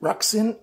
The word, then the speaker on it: RUIXIN: Now, before you get too far, I pronounce that RUIXIN, R-U-I-X-I-N.